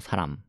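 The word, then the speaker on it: 사람: アムですよねは口を閉じて発音するのがこの資格だったのでさあラム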